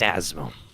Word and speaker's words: Asmo: It's Asmo. Asmo. Asmo. Spelled with an S sounds a little bit like a Z, which is just a very rigid S.